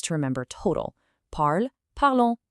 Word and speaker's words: parlons: The nous ending o n s gives you a nasal on sound, nous parlons.